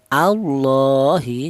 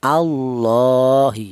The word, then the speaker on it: Allah: huruf yang berharakat dhammah, maka cara bacanya lafal Allah ini dibaca tafkhim atau dibaca tebal ya, ini Allahi seperti itu. Jangan dibaca tarkik Allahi, jangan.